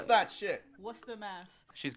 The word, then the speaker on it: Worcester: Come Pronounce on. that shit. Worcester, Mass.